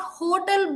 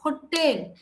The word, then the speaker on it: hotel: on a particular syllable it's not hotel but hotel that also is referred